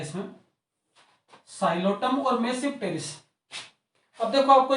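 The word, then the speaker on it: Psilotum: T silent है इसमें, साइलोटम और मेसिप्टेरिस।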